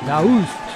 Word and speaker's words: Daoust: Doust, esa es la pronunciación fidedigna.